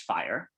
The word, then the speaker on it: FHIR: an open standard called fire which stands for fast healthcare interoperability resources so it's spelled fhir but it's pronounced fire and this is the